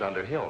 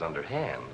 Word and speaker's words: Underhill: Mrs. Underhill, not Mrs. Underhand, Elizabeth.